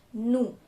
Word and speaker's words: nous: So we in French is called nous.